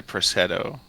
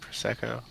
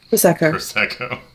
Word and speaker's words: prosecco: a mimosa and a prosetto is that how you say it Prosecco Prosecco yeah champagne cocktails and then